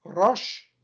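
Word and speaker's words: ראש: In dem modernen Ivri, in dem modernen Hebräisch, wird das Rosh ausgesprochen.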